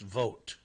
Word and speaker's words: Vogt: know a guy that spells his name Vogt and it's pronounced vote well whatever uh here's